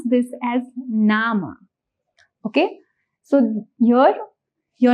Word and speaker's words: Name: If you see the spelling does look similar to what we have in English but the pronunciation here is going to be different. In Deuts we pronounce this as nama.